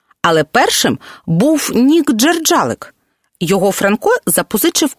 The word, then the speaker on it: Франко: польських часописах До речі якби Франко обрав Польщу то називався б Франко так прізвище наголошували в Нагуєвичах рідному селі мицця вже переїхавши до Львова письменник українізував своє прізвище та змінив наголос А ось інший код